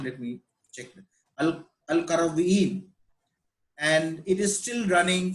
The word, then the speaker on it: Al-Qarawiyyin: So this madrasa, it became a university, and it is known as the University of Al-Qawarinun, or let me, it's very difficult to pronounce that name. Let me check. Al-Qarawiyyin.